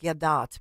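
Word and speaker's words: Gadot: of this is Gail I know she it's pronounced gadat but Gail gadat who plays the evil stepmother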